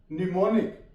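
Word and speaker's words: mnemonic: निमोनिक, एम के बाद एन आ गया तो एम साइलेंट आ गया।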